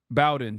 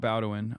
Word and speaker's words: Bowen: Bowen, sorry, not Bowin. I always say it wrong.